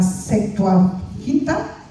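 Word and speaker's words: Septuaginta: Se dice que en las en la traducción de la bueno, se pronuncia la secuaginta, ¿sí?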